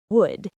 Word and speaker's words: would: Would. W-O-U-L-D. That L is silent, by the way. It sounds like would.